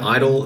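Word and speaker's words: (G)I-DLE: went in google de they go by idle the G is silent it's actually some really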